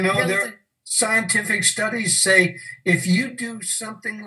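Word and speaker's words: Sau: And with each exhalation, mentally repeat Sa, pronounced like the tool, the saw, it's spelled S-A-U.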